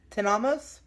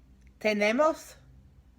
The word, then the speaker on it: tenemos: Or Tenamos? No. Remember that the E's in Spanish are pronounced E. Okay. Tenemos?